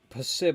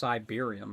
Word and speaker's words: Siberium: Pib, I realize that I've been pronouncing your name wrong the whole time. It's just Siberium, right? Like I'm stupid. I've been saying pib, but sigh is like way better.